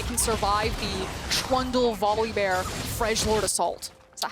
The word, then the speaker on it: Freljord: ultimate, that I can survive the Trundle Volibear Freljord assault. Is that how you say it? Freljord? Yeah, F-R-E. It's pronounced L.